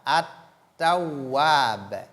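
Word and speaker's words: التواب: Ta, at-tawwab, at-ta, et non al-ta, at-tawwab.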